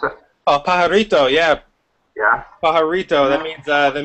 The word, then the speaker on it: Pajarito: Is that how you pronounce it? Oh, pajarito, yeah.